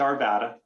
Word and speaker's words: Arvada: one point of clarification you got to say arvada um yeah you push my buttons when you mispronounce our city's name yeah it's not a good thing all right it's just it's our vata my apologies i've been